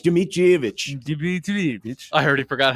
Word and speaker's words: Dmitrievich: No, it's Dmitrievich. Dmitrievich. I already forgot how to pronounce that.